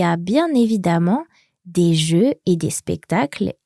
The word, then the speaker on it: évidemment: Now, it's spelled Iacute, V-I-D-E-N-N-E-N-T. Évidemment, but the middle vowel there sounds like an A.